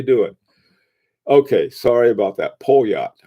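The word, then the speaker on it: Poljot: Polyot. Oh, hey, that's a cool way to pronounce it.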